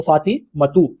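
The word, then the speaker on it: فاطمةُ: हामिदुन, ज़ैनबु, आमीनतु, अम्मारुन क्योंकि ये mail noun है, सईदुन मेल नाउन है, फातिमा अब ये फीमेल नाउन है तो फातिमतु एक पेश के संग पढ़ेंगे, मरियमु, अलीयुन, खालिदुन, अब्बासुन, आयशतु, मुहम्मदुन, सफियतु, खतीजतु।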